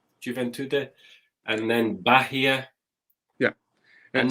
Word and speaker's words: Juventude: Yes, because it's Juventude, isn't it? How do you say that team? Is Juventude. It Juventude, and then Bahia.